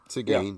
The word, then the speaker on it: Seguin: But I don't know if it's pronounced Seguin. yeah. Seguin, yep.